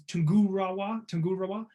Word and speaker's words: Tungurahua: So the volcano I'm going to talk about is Tungurahua.